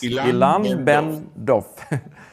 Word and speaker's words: Ilan Ben-Dov: Exactly as it is written. It's very nice. Ilan Ben Dov.